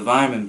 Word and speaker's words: Weyermann: I've always found, I think I was saying in the last video as well, the Weyermann beers, German pronunciation, the Weyermann beers do have, they've